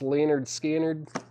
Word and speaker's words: Lynyrd Skynyrd: one of these left Lynyrd Skynyrd pronounced Leonard scannered music from the Star